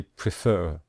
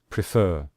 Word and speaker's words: prefer: And you can see here we stress the final syllable. When we say prefer, we say prefer.